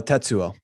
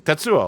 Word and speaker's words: Tetsuo: know like akira oh he just said the name wrong tetsuo yeah yeah okay yeah